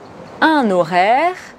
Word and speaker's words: horaire: avec le mot heure il faut faire attention à la prononciation du mot horaire dans le cas d'une liaison un horaire des horaires compléter les